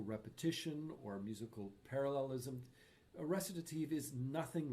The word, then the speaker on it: recitative: In Baroque operas, there are only two kinds of singing: recitatives and arias. Note how we pronounce those words: recitative, aria.